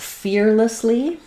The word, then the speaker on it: fearlessly: Um, so even though we have the word less has the e vowel like in red, in a word like fearless, fearless, that vowel is very reduced. And so it's going to be more of an um i sound.